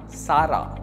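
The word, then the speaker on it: Zara: பட் வந்து இது ஒரு ஸ்பானிஷ் கம்பெனி. ஸோ அவங்க ஸ்பானிஷில் எப்படி சொல்லுவாங்கன்னு பார்த்தீங்கன்னா சாரா.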